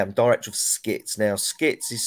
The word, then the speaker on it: SCITTS: your current role and uh and what are skits okay so my my title is cine tutor